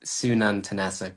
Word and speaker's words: Sununtn: take offense don't worry it's pronounced Sunan tanasic but is totally fine okay that's a